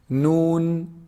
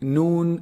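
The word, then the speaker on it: نون: from the nose meme noon noon is actually pronounced from the tip of the tongue when they hit you see the upper incisors behind them a little bit noon noon it's below below the the lamb articulation point noon lam lam noon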